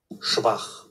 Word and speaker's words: schwach: এই যে এই টাইপের জিনিসপত্র যখনই দেখবেন যে উচ্চারণ জানার দরকার, ডিক.সি চলে যাবেন, গিয়ে লিখবেন এখানে শোয়াক, তারপর শুনবেন এখানে কি বলতেছে, schwach schwach schwach schwach alles klar?